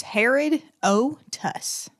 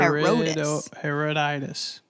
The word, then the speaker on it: Herodotus: It's Herodotus. Herod. Heroditis.